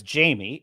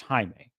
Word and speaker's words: Jaime: anyway so she so she could be reading it as Jamie and mispronouncing it and then he could audibly say it's pronounced Jaime and I think yeah